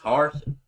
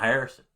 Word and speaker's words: Harsin: It's Harsin. It's not Harrison.